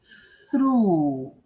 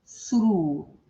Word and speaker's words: through: Eu tenho TH logo no início. Então eu já começo colocando, né, a minha língua no meio dos dentes. E soprando esse ar para fora.